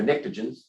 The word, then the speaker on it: pnictogens: And then these are pnictogens, starts with a P. The P is silent.